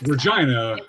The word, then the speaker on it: Regina: Yes, Regina rhymes with angina.